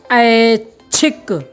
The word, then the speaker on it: ऐच्छिक: ऐच्छिक का उच्चारण करते समय आप देखेंगे कि इसमें एक ऐसा कोई अक्षर है जो साइलेंट है। क्या है? साइलेंट है, गुप्त है। आप उच्चारण कीजिए ऐच्छिक। ऐच्छिक। ऐ और छिक के बीच में एक अक्षर है, वो कौन सा है? पहचानिए, पहचानिए। आहा, ऐच्छिक। जी, क्या है? आधा च, क्या है?